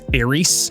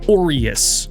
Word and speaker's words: Aureus: Yes, that's how it's pronounced this entire time. I thought it was Aries, but it's Orius, like Oreo, but lenses.